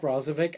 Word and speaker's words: Roslovic: Here, I'll spell it. Roslovic. Roslovich? Roslovich. There's no H. You can't do a ch with no H. But true, he's American. I don't know. He's American, I mean, you're right. Roslovic.